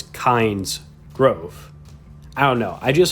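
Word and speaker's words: Kynesgrove: the name of that village because most people pronounce it like i just did kinesgrove but it's named after the god kind so it's kinds growth i don't know i just always found that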